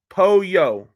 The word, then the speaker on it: pollo: Okay, put a P in front of yo-yo, and it sounds similar, just not spelled the same.